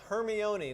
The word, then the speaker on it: Hermione: By the way, it's Hermione, not Hermione.